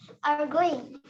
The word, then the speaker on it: arguing: Yo, argue jadi Arguing. bacanya you. Arguing. Arguing. Ada bunyi Y-nya ya.